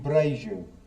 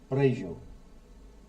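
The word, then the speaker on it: Brejo: I live in Braju. Braju B. I'll tell you how it's spelled.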